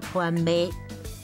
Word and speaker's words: 番麥: 林老板说的一点都没错，这翻麦呢就是玉米啦，台语念作翻杯，而烤玉米就是修翻杯。